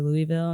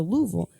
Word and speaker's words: Louisville: They taught me how to say it correctly because I used to say Louisville, and they're like, "Nah, girl." That's probably how I was. Louisville. Okay. So Louisville.